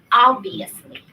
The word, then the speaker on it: obviously: One pronunciation really quick. It's obviously. I think you have the stress on later one.